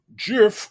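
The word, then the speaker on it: giff: i'm really looking forward to it now it is spelled g-i-f-f if you haven't looked at this document jiff are tall broad shouldered folk with hippo-like features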